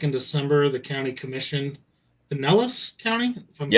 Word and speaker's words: Pinellas: looks like back in December, the county commission, Pinellas County, if I'm pronouncing that right.